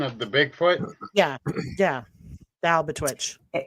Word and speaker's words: Albatwitch: Yeah, the Albatwitch. Twitch or witch? It's a twitch.